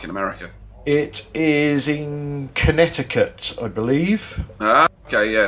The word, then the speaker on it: Connecticut: america it is in connecticut i believe ah okay yeah so that's quite a hot count or if you read it correctly connecticut it's how it's spelt yeah and no way